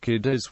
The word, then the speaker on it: Cádiz: In Spanish, the accent is always on the first syllable, but, while the usual pronunciation is the local dialect says, or instead.